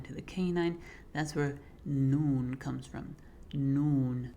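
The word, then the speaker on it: ن: That's where noon comes from. Noon. Very similar to the N sound in English.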